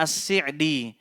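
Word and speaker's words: السعدي: Sebagian ulama, sebagian ahli ilmu ada yang membacanya As-Si'di. As-Si'di. Dan Syekh Salih Al-Utsaimin hafizahullah menjelaskan perbedaan antara keduanya, As-Si'di dan As-Sa'di. As-Si'di, pembacaan seperti ini akrab ditemukan dari ungkapan kerabat-kerabat beliau.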